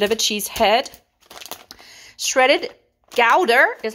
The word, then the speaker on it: Gouda: a smooth smoked gowda everybody say it with me gowda not gouda i've been to gowda in france and that's how they say it but anyway not going